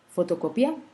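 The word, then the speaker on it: fotocopia: Par exemple, photocopia, la syllabe tonique c'est co.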